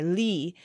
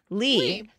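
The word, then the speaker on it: Lli: This one comes from, how do you pronounce the word, the name L-L-I? Lee. Lee. So I've always, Lee. So she says, nope, just Lee.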